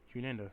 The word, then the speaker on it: Hunada: There's no second N. It's Hunada.